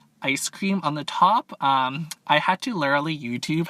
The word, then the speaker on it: ube: else it'll spill again but we got the U ice cream on the top um I had to literally YouTube how to pronounce that right before I hit the start